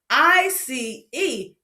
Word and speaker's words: ice: It is a silent E at the end. Makes the vowel say its name.